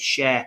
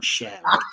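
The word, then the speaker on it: Schär: It's Fabian and Sher, I've been told, but I don't feel comfortable calling them Sher. I know this is the music section coming up, but I do I do think it's Fab and Shaw. It's spelled Shaw.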